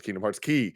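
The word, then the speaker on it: Kingdom Hearts χ: pronounced it is pr it's spelt c-h-i it's pronounced key in k-h because kingdom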